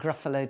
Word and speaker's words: Gruffalo: I thought he could begin with grr, because that kind of sounded fierce. And then I think Gruffalo just fills itself in, I suppose, because it rhymes with buffalo.